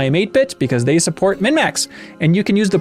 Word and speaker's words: MinnMax: That was MinnMax, like XMAS, right?